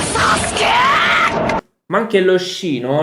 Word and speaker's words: Sasuke: non gli accenti, la pronuncia, nel senso che tendono a non pronunciare molto la U e la I. Infatti è Sasuke. Sasuke.